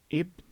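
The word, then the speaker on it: ابن: us say muhammad ibn it is written bin however it is not pronounced bin it is pronounced with an alif but it is not written because it is between two nouns or two names however if you will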